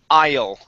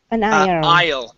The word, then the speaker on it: aisle: Yeah, the S is silent, and the E, for all matters, is silent at the end as well.